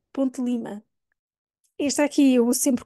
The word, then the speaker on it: Ponte de Lima: de Lima Eu quase não pronuncio o ali o d quase uma ponte para Lima Ponte Lima este aqui eu uso